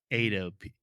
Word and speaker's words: Edo: a small correction so I pronounced the Edo period Edo period excuse me as Edo which is not correct it's Ado Edo period um for or Edo excuse me no I'm saying it wrong again it's Edo period according